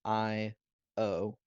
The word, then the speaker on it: Io: So her name is Io, as in I-O, but it's pronounced Io.